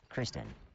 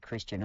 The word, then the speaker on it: Kristen: After all, it's DS Kristen slays, not Christian or, God forbid, Christy.